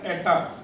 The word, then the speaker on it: eta: So that is pronounced as eta. The symbol is eta, that is an alphabet of the Greek letters.